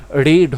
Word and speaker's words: read: তো রিডের V3 form কি হয়ে যায়, রেড হয়ে যায়, রেড, READ, রেড। লেখাটা স্পেলিং এক থাকবে কিন্তু উচ্চারণটা আলাদা হয়ে যাবে, রেড, রয়েকা রেড বা